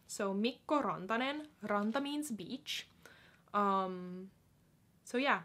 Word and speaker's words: Rantanen: So Mikko Rantanen.